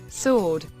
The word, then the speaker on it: sword: pronunciation its pronunciation onion sword the W is silent sword kangaroo if you call